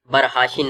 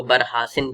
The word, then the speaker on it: برحاشن: جیسے کہ برحاشن ہے تو کچھ لوگ اس کو برحاسن پڑھی, یعنی کہ شین کے جگہ سین کا آواز نکلا.